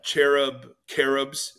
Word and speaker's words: cherubs: They're called cherubs, as we pronounce it with, you know, a hard K.